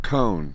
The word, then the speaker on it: Cohn: go so get out so cone that's me that's how you say it yes home yes thank